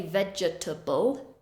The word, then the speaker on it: vegetable: vegetable we don't say vegetable we reduce that middle syllable vegetable vegetable the next one